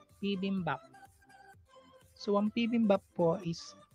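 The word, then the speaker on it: 비빔밥: So ang ating first syllable is P, second syllable is BIM, third syllable is BAP, P, BIM, BAP. Pibimbap.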